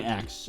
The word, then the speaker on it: EXE: I think the easiest way to pronounce this would be just call it an X, even though it's spelled EXE.